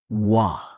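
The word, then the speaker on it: は: Nai name ha topic marker pronounced wah du polite ending.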